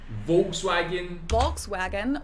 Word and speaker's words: Volkswagen: just imagine that it was spelled with an F and V instead. Okay, so the V in Germany This is like an literally F? means people's car Volkswagen.